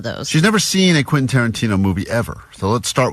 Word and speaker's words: Quentin Tarantino: All week, as she's been talking about this prize we have, she's been saying, Quinton? Quintanana. So we're like, what? You talking about Quentin Tarantino still?